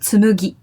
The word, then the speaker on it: Tsumugi: Number 4 is, I think it's a bit hard for English-speaking people to pronounce, but tsumugi. Oh, yeah. Tsumugi with a mu? Tsumugi, yeah. Mami mume mo tsumugi.